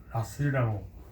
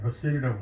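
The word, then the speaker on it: Russell: 20세기 영국을 대표하는 철학자라고 할 수 있는 버트란드 러셀은 미국식으로 발음하면 러셀이 아니라 라셀이라고 이렇게 합니다만 보통 우리나라에서 그냥 러셀이라고 하더라고요.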